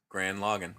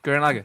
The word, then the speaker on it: Gurren Lagann: Grand Logan. Gurren Lagann.